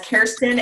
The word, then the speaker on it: Kerstin: And how can people remember to pronounce your name as Kerstin and not Kerstin? Yeah, so mine's the least common as Kerstin.